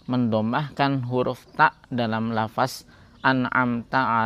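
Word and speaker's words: أنعمت: Huruf ta Dalam lafaz anamta alaihim sehingga dibaca menjadi anamtu alaihim atau misalnya mengganti huruf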